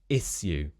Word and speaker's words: issue: I've always thought this sounds a bit weird, but a word like issue can often be pronounced as issue. Issue. This is very old-fashioned, very kind of standard RP, upper RP, issue instead of issue.